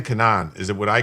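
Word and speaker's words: כנען: And you probably heard other people say it that way because in English I don't know how it's properly pronounced. In Hebrew the word is Cananan.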